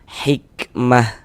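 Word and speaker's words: حكمة: Kalau berhenti maka dia menjadi huruf ha. Sehingga ini kita baca hikmah seperti itu.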